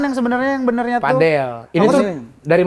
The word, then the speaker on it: padel: Padel. Ini Apa tuh sih? dari mana Ki ininya? Datangnya. Ini tuh sebenarnya tuh Tanya dong Kak ya, Ini nih. tulisannya kan PADL. Itu dibacanya pedal atau padel? Padel.